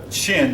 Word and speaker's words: Qin: Now, the next dynasty after the Zhou was the Qin dynasty. Now again, that's spelled Q-I-N.